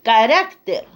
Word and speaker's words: carácter: y especímenes muy bien el otro es carácter entonces al pluralizar de los caracteres bien vamos al punto d